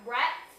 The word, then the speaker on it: brat: And they're like, we got brats, B-R-A-T-S. But they kept calling it a brat. And I was like, it is spelled like brat, like that little doll, but there wasn't no doll.